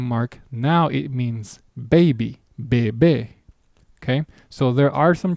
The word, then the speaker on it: bebe: There is no accent mark. Therefore, the natural pronunciation of this word is bebe.